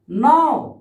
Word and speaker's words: know: ऐसे एक शब्द और देख लीजिए आप, नाव, अब इसको तो हम कनाव बोलेंगे, लेकिन नहीं ये कहते के तो साइलेंट है, के तो यहां साइलेंट है, ठीक है, नाव हो गया।